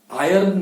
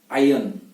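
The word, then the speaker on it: iron: और आयरन भी नहीं, आयन, आयन। इसका जो आर होता है उसको साइलेंट रखना है, आयन।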